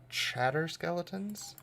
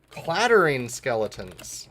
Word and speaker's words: Clattering Skeletons: Oh, they're just called Chatter Skeletons? Clattering Skeletons.